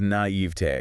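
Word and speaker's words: naïveté: It is naivete. Because of the French? Yes, because it retains its French phonetic structure.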